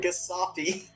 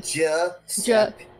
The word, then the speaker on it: Giuseppe: 'Cause, You keep I'm not- calling him Gasapi. okay, how do you pronounce it? Please tell me. Giuseppe.